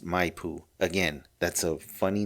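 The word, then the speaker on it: Maipú: to their residence at Mipoo. Okay, it's spelled M A I P U. And I think it's pronounced Mayoo.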